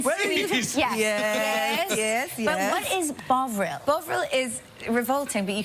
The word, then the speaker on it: Bovril: Am I mispronouncing it? Yes, it's called Bovril.